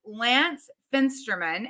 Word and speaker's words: Lance Fensterman: Lance Fensterman. And did I say that right, Lance? You totally said it right.